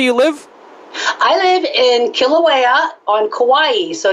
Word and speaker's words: Kilauea: again Kilauea Hook Kilauea killer whale is how I'll try and remember that Kilauea and her name is